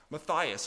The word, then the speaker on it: Matthys: And following John of Leiden to Monster was John Matthysse or sometimes pronounced Matias.